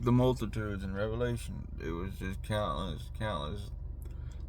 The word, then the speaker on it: Revelation: Revelation. It's not Revelations. This is what I'm told.